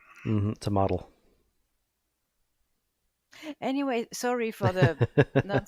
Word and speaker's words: tomatl: And it was originally an Aztec word, nahuatl, and it was tomatl. Ooh. So T it's an O T O M A not T a L. A. It's an A. Tomatl.